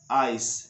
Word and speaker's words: ice: तो होता है वर्ड्स, लेकिन ई इसका उच्चारण नहीं करना है। तो ध्यान रखना, आइडिया बोलते समय, आइडेंटिटी बोलते समय, आइस बोलते समय, आइसक्रीम बोलते समय आपको आई से वर्ड शुरू तो करना है, लेकिन आई को ई नहीं कहा करके आई को आई बोलना है, तभी आपकी सही उच्चारण होगी।